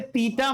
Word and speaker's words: theta: अरे थीटा मतलब तीतर, त थी, था। इसमें थ का उच्चारण है बेटा, थ मतलब था, थीटा।